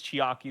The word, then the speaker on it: Chiaki: Also, yeah, I I've been getting the name wrong. It's Chiaki the entire time. I said I kept on saying Chica. Like the uh Five Nights at Freddy's bird.